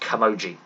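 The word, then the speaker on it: camogie: right splitting hurling and I believe it's pronounced kamoji uh if I've got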